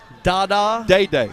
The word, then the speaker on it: Dada: Day-Day. Day-Day. Day-Day. D-A-D-A, pronounced Day-Day.